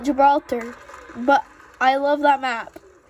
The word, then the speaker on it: Gibraltar: I used to call it Gibberator. I don't call it Gibberator anymore. I call it Gibraltar.